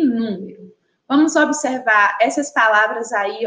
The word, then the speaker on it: número: E a palavra número também tem três sílabas. Estão conseguindo identificar? Número. E a sílaba tônica também é a antepenúltima.